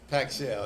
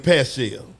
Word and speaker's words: Pacshell: how you pronounce the barbecue business name yeah it's pack shell that's my middle name it's pack shell okay I'll be saying passion yeah it's packed okay